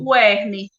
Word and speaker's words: UERN: Como que vocês pronunciam? Urne? UERN.